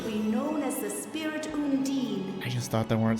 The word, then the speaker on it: Undine: Oh, I thought they pronounced it Undini for some reason, but yeah, Undine.